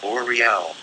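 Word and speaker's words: Auriel: Say, and at my left hand, and then vibrate, Oriel, pronounced Oriel.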